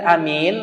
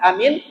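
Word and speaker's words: آمين: Karena di dalam hadis fa'aminu, makmum itu menjaharkan bacaan amin, aminnya, tapi cara membacanya hanya pendekkan 2 harakat, minnya boleh panjang.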